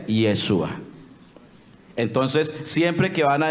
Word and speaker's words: Yeshua: Ellos entonces van a decir que el nombre se pronuncia es Yeshua.